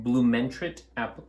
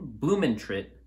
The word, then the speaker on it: Blumentritt: with us today from blue mantra amplification bloom and trit amplification i'm saying it right right there bloom and trip amplification